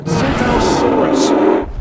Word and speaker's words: Tsintaosaurus: It's called a TSINTAOSAURUS. The T is silent, like the P in swimming.